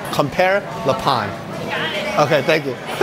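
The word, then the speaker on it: Compère Lapin: How do you pronounce the name of the restaurant? Compare Le Pond? Yeah. Compare Le Pond. Compare Le Pond.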